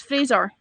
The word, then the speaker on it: Fraser: Frasier but you didn't learn to pronounce his name properly and actually realized it it's Fraser and not we went to the